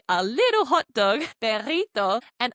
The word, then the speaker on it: perrito: So I added that to say a little hot dog, perrito, and I knew that this had a double R in the word. So I pronounced it as that trilled, rolled R sound.